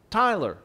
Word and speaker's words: Tyler: other names besides tyler because it's so difficult for the hispanic tongue to pronounce tyler i don't know how many times i've been called taylor in fact uh two